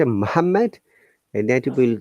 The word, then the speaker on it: Muhammad: one l sound and we have to only pronounce only one letter one consonant okay so if you say muhammad and that will not